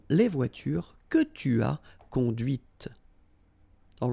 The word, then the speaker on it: conduite: and then the feminine, conduite. Okay, so here you can listen to this t, t, okay?